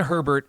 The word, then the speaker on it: Herbert: Yeah, Herbert. Okay, so little history. Justin Herbert was a mid-tier.